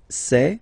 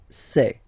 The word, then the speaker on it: sait: Il sait. Final T not pronounced. Elle sait.